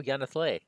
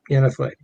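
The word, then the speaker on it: Y'ha-nthlei: Oh, Yanathle. Yeah, Yanathle. Correcting pronunciation once again.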